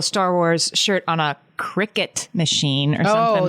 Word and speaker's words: Cricut: And we called it a cry cut.